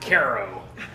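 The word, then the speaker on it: Cairo: the country of Southern Illinois, where we don't pronounce any of the city names correctly. It's not Vienna, it's Vienna and Caro.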